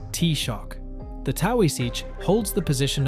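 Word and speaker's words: Taoiseach: The duty belongs to the Tawi sich which is pronounced t-shock.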